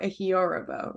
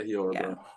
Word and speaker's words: Ehiorobo: Can I say I used to say Ehiorobo, but I think it's more Ehiorobo, right? That's yeah, Yeah. Ehiorobo. Yeah, Got that accent on the O.